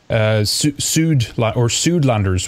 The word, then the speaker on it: Suidlander: But tell us just a little bit first, Suidlanders, what is that for those who don't know? Well, I'll pronounce it our way, if you don't mind. It's Suidlander.